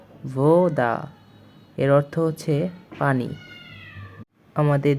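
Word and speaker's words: вода: আপনার এটার উচ্চারণ হবে ভোদা, এর অর্থ হচ্ছে পানি।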